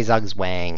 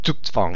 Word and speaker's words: Zugzwang: That does not say Zugzwang. It says Zugzwang. It's German, and it means I wish that it were his turn.